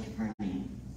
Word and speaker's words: Capernaum: How do you say they say it in the Chosen? Capernaum. It's actually Capernaum.